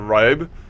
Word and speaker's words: Ribe: Like, the E's are removed, so this is probably also not Ribe, but something like Rib.